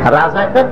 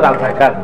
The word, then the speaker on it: রেজাকার: রাজাকার তো শব্দটা রাজাকার, শব্দটা হচ্ছে রেজাকার। এখন এটাকে বাংলায় উচ্চারণ করতে গিয়ে বাংলায় এটা রাজাকার হয়ে গেছে।